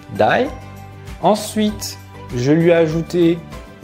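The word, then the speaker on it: 台: de l'homme voilà donc ils se prononcent die ensuite je lui a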